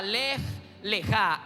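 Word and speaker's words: lej lejá: con relación al tema la palabra lej leja l e J l e e J a Así es la pronunciación lej leja y significa ve hacia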